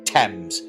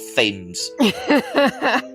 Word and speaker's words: Thames: who's heard this story it is pronounced the river thames not fames god damn americans um